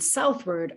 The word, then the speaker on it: southward: in the word so inward outward and southward are all stressed at the beginning that first syllable is stressed inward outward southward